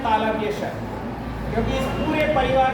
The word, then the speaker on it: श: कहाँ से होता है, तो इस श का उच्चारण होता है यहाँ से, यानी कि जहाँ से च का उच्चारण होता है छ, झ, झ, य, श, यानी कि जहाँ पर जीभ टकराती है च बोलते समय, लगभग वहीं जीभ टकरा करके श बोलता है।